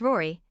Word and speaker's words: Rorai: Baraline, 4F, pronounced Bryalyn, Falcon, 3M, pronounced Falcon, Rorai, 3F, pronounced Rory, and Kelvin, 1M, pronounced Calvin.